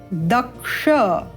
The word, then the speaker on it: दक्ष: एक और उदाहरण ले लेते हैं, दक्ष। यहाँ पर द के बाद है क्ष। हमें भी अपने उच्चारण में क्या होना है? दक्ष, परिपक्व होना है, दक्ष होना है, और इस क्ष का अभ्यास करना है।